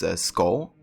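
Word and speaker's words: Skål: I guess Scow is what they use to greet each other. And that's also something that Ivor says himself sometimes. It's pronounced as skull.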